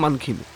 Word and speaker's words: Mankhim: ঋষিকোলাতে এক রাত কাটিয়ে 2 রাতের জন্য চলে এলাম মানকিমে। উচ্চারণটা আসলে মানকিম।